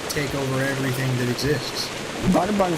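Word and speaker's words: Brøderbund: All I know is that most of my life I pronounced it Borderbound because I'm an idiot.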